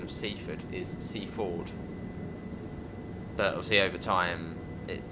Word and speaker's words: Seaford: Actually, that's the correct pronunciation of Seafood is Se Ford, but obviously over time it just Seafood service to Seafood calling at Seafood.